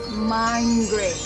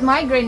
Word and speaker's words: migraine: headache which is migraine some of our pinoy tummies call it or pronounce it mind great mind connecting it to the phrase but migraine is not a laughing